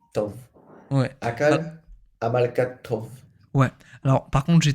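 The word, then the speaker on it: טוב: Mais rappelle-toi que le V peut être aussi prononcé B. Donc, Tab ou Tob.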